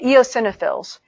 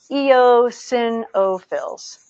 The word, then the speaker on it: eosinophils: in everyday work no yo sinha fills is how you say that eosinophils yo sin o fills I worked with an